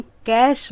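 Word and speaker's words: cash: केस और थोड़ा सा डिफरेंट इसका प्रोनंसिएशन हम कैश बोल द वो दूसरी चीज है तो पहला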